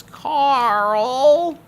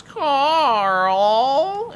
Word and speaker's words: Carl: i like him and his name is carl specifically said like that it's draconic that actually translates to steven in english in common but it's pronounced as carl interconnect oh man the